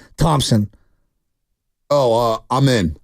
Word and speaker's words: Amen: you pronounce his first name Thompson oh uh amen amen and then how do you pronounce his brother's name uh he's a sir